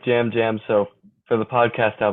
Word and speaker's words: Yam Yam: I know it's spelled with a Y, but I think it's kind of pronounced with a kind yeah. of a J. I like Jam Jam, so for the podcast, I'll be calling him Yeah.